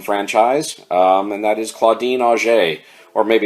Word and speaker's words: Auger: and that is Claudine O'Shea or maybe it's pronounced auger it's it's spelled like auger AUG ER but being that she was a French woman I think the correct